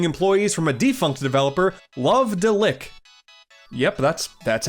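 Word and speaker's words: Love-de-Lic: The Tingle Resurgence comes to us from Vanpool, a company including employees from a defunct developer, Love Deick. Yep, that's that's how you pronounce it.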